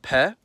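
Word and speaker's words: П: It's called pe. It appears in every Cyrillic using language, and it sounds like p.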